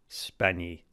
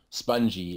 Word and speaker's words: Spagni: It's pronounced Spagni, but Spagni. See, honestly, that's why I asked you. I'll take anything over like, spongy and other mispronunciations I've heard in the past.